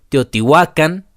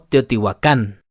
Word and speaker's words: Teotihuacan: toit sh ma IL como dato extra las palabras del nahat Generalmente son graves el acento lo llevan en la penúltima sílaba por ejemplo se lee Teotihuacan y no Teotihuacán otros ejemplos nantli Campa